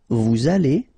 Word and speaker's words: vous allez: Then, vous allez, remember, a Z at the end here will give you this A sound, okay? Allez, and then, as previously, this little link between the two, liaison, vous allez, right?